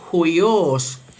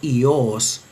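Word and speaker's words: υἱός: es leído con la aspiración inicial en la pronunciación erasmiana se lee huios, huios, pero según la pronunciación reocliniana, que no tiene aspiración inicial, y ese dictongo suena ahí, se leería simplemente ios, huios según la pronunciación erasmiana, pero ios según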